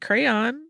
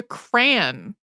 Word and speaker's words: crayon: everybody says it differently I say it crayon my spouse says it closer to cran which is the pronunciation